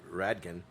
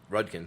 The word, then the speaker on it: Rudkin: uh pepper's farm uh margaret radkin rudkin sorry i keep saying her name wrong she went to europe